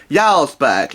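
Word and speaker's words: Jarlsberg: pre-spreaded cheese in place of the Charles burger yarlsberg if the day is silent with a bit of an accent there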